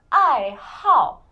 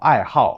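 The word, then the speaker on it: 爱好: So it's 因为 like this 好 like when it's pronounced as the fourth tone, it means that you like something.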